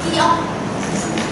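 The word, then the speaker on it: 키읔: Cái đọc trong bảng chữ tiếng Hàn sẽ đọc là Kyok.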